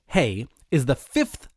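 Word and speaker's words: ה: The only change in the spelling, the Hebrew spelling for both names, is adding the letter H, which is pronounced hey.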